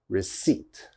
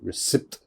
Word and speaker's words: receipt: it receipt receipt now one of these letters definitely i'm not pronouncing receipt receipt i hope you can't hear this p because i am not saying the p all right that p is silent okay we do not pronounce the p so it's receipt receipt never never never never say recipe or something like that that is definitely wrong receipt receipt you have to be confident receipt second word listen